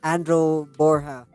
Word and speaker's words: Andrew Borha: I'm doing good uh impressed that you pronounced my name correctly ly the first time a lot of people say Andrew or something else but yeah you you